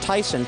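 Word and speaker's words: Theisen: of Oregon topped the charts this is Tyson yes it's pronounced Tyson she's from British Columbia she's actually from Humble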